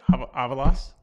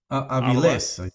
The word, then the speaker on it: Aviles: I'm getting corrected on how I pronounce names. I think that's how I said it. Avalos? Aviles. Aviles? Yeah. Whatever. Think of JC Aviles. There you go. JC, president of the Southern Legion. He's Aviles.